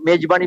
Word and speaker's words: মেজবানি: এই গানটা কুলসুমের মেজবানি, মেজবানি বাংলায় জেড এর উচ্চারণ হয় না, মেজবানি হবে।